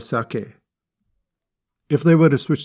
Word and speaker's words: sake: rice wine they may incorrectly say saki instead of sake if they were to